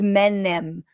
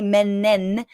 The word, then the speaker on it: Menem: His name is Menem, but many people in Argentina don't say the Menem. They say Menen. They mispronounce it because they're so concerned